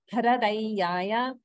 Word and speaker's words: hradayaya: But you want to make sure you're pronouncing it like hra, that's a, not the r vowel. So hra and dayaya, hradayaya.